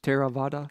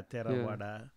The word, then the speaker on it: Theravada: How you pronounce that? Like the Theravada, and it's the TH Theravada. Correct, yeah, Theravada.